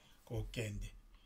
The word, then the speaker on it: kokende: Quand on écrit comme le grec comme ça veut dire que c'est ouvert, c'est e, kokende.